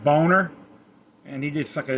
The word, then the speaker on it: Boehner: with former house speaker john boehner actually pronounced boner and he did suck